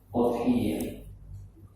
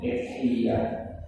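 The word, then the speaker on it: أضحية: Bisa dengan penyebutan lain, karena kata udhiyah itu punya beberapa pengucapan lain lugah. Bisa disebut idhiyah, bisa disebut adhiyah, dan beberapa lugah lain. Tapi yang saya sampaikan di sini udhiyah itu lugah yang paling masyhur.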